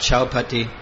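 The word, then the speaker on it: Chowpatty: not everywhere in the world people talk about Chao Pati that's how you say it devotees and usually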